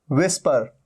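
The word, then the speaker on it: whisper: विस्पर, विस्पर मतलब फुसफुसाना, हल्के हल्के करके कुछ बोलना, यहां पर भी एच का साउंड नहीं है।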